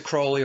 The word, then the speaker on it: Crowley: As does Aleister Crowley or Crowley, depending upon how you want to pronounce his last name.